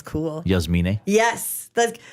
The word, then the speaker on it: Jasmine: Well, or Jasmine's a Yasmin? nice name. Nah. When somebody says Jasmine, that's actually, it's pronounced Yasmin.